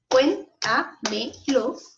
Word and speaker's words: cuéntamelo: Cuéntamelo, ¿cierto? Tiene 4 sílabas. Las separamos, ¿cierto? ¿Y dónde cargo la voz? Cuéntamelo. En cuen.